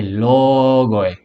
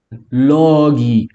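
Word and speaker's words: λόγοι: O plural é logoi. Logoi. Logoi. Logi, a pronúncia em determinados estilos de pronúncia. Logi. Logi. O O é quase suprimido.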